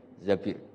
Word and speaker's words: Zabir: Di hadis ini bacanya bukan Zubair tapi Zabir, Abdurrahman bin Zabir.